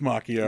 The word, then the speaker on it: Macchio: You're like Jordan Schlansky, pronouncing it Macchio. It is pronounced Macchio.